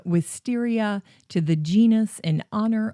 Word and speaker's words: Wisteria: The botanist Thomas Nuttall gave the name Wisteria to the genus in honor of Caspar Wistar. Some people pronounce it Wistaria to reflect the proper spelling of Caspar Wistar's last name.